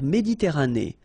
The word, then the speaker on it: Méditerranée: La mer Méditerranée. Okay, here final E not pronounced, but then you pronounce this E at the end.